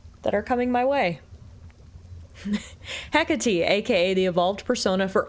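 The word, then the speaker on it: Hecate: I lack such forgiveness for my failure, had mistress Hecky. The Titan yet lives and Olympus yet burns. While I'm back where I started. Hecati is how you pronounce it.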